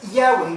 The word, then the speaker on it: Yahweh: Diferentes pronunciaciones para lo que está conocido como el tetragramatón o es difícil la palabra, pero es Yahweh, YHWH.